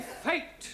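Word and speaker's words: fête: the rule for example f e t e is also pronounced fate yeah one right no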